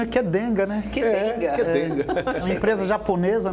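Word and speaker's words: Qdenga: boa tarde primeiro é Curioso o nome né Kid denga é o nome brincadeir então que pronunci queed denga né quaa uma empresa japonesa né taeda foi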